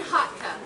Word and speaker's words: Hotka: This is Nobody Likes a Goblin by Hotka. Yes, rhymes with luck.